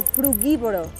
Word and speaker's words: frugívoro: Me sigue costando un poco la pronunciación. ¿Frugívoro o frugívoro?